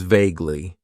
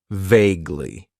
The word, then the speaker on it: vaguely: use and that is vaguely it has two syllables and the stress is on that first syllable vaguely vaguely means that something